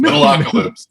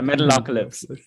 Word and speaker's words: Metalocalypse: Metalocalypse. Yeah, Metalocalypse. There you go. Ultimate flavor. I know. I had to hear somebody say it before I could pronounce it too.